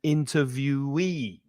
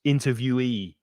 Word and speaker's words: interviewee: the first syllable interviewer and interviewee so the yi at the end is stressed interviewee the interviewer asks the